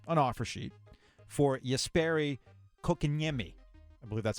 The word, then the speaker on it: Kotkaniemi: to put in an offer sheet for Jesperi Kotkaniemi. I believe that's how you pronounce his last name. I'm going to get it right eventually. You want to give it a shot? Kotkaniemi. Kotkaniemi.